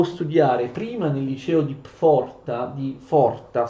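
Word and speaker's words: Pforta: prima nel liceo di Forta, scusate la P diciamo non si legge, Forta, che è uno dei più importanti e rinomati licei tedeschi, e poi di frequentare l'università.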